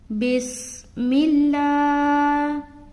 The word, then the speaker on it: بسم الله: بسم اللہ. بس سیٹی کی آواز آئے گی. بسم اللہ. لا کو کھینچ رہے کیونکہ کھڑا زبر ہے.